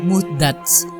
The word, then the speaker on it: muhdats: Ibnu Asir menjelaskan, kata muhdits dalam bahasa Arab memiliki dua cara baca, muhdits dan muhdats.